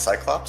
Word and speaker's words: Cyclopes8: Most people know me on Discord as Cyclops, so we'll just go with that. C Y C L O P E S. The eight is not necessary. The eight is silent.